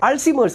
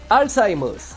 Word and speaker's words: Alzheimer's: നോ സോ എന്താണ് അൽഷിമേഴ്സ് ആദ്യം തന്നെ ഇതിന്റെ ഉച്ചാരണം എന്നുള്ളത് ഡോക്ടർ ഉൾപ്പെടെ ഒട്ടുമിക്ക ആൾക്കാരും തെറ്റായിട്ടാണ് ഉച്ചരിക്കുന്നത് ചില ആൾക്കാർ ഇതിനെ അൽഷിമേഴ്സ് എന്നും ചില ആൾക്കാർ ഇതിനെ അൽഷിമേഴ്സ് എന്നും ചില ആൾക്കാർ ഇതിനെ അൾസിഷിമേഴ്സ് എന്നും മറ്റു ചിലർ അൽസിമേഴ്സ് എന്നും ഒക്കെയാണ് ഇതിനെ ഉച്ചരിക്കുന്നത് യഥാർത്ഥത്തിൽ ഇതിന്റെ ഉച്ചാരണം എന്നുള്ളത് അൾസൈമേഴ്സ് അൾസൈമേഴ്സ് disease German psychiatrist ആയിട്ടുള്ള അലോയ്സ്